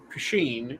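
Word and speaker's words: poitín: Then you have Pasheen where it is POTEEN, and then Pasheen where it is POTHEEN. All of them are valid spellings of Pasheen.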